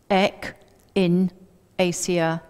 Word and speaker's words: echinacea: in today's world so echinacea and a lot of people have problems pronouncing it so if you break it down to ech in a seer it's easier and there are two